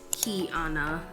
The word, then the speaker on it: Kiana: going besides the fact my name is Kiana and it is pronounced key Anna with like it is with a K but we unique over here